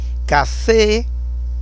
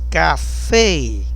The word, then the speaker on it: café: Café, o forte é no F. Café.